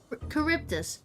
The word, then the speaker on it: Charybdis: Charybdis. What's the point of the H there in the name if it's not pronounced?